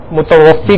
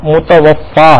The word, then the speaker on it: متوفی: طور پہ کہتے ہیں متوفی کہتے ہیں نا. تو متوفی یہ لفظ جو ہے یہ تلفظ درست نہیں، صحیح جو درست تلفظ ہے وہ متوفا ہے.